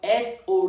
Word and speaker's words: sow: The first pronunciation of s o w is so which rhymes with go.